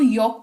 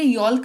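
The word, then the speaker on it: yolk: L silent रहता है क्योंकि एल के बाद ही के है, जो कि साइलेंट लेटर रूल्स के हिसाब से जब भी एल के बाद के होता है तो एल जो है साइलेंट हो जाता है, तो इसको यॉक पढ़ेंगे, यॉल्क नहीं पढ़ेंगे।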